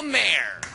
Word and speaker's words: Maher: or even sink please welcome the wonderful Bill Maher well it's exciting thank you it's pronounced Mar do you know that film film oh my